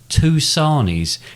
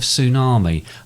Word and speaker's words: tsunami: however for some reason i pronounced it two sarnies instead of tsunami apologies i can confirm